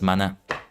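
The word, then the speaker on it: 学: But yeah, in this case, that Gaku kanji is pronounced as mana.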